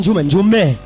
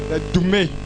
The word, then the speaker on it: Doumé: Je ne peux pas prononcer comme vous. Djoume. Il dit qu'on ne dit pas Djoume. Ok, venez vite. Come. Bon. Ok. Comment? Doumé.